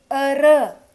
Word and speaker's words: heureux: Heureux. Next example. Heureux. This is not spoken.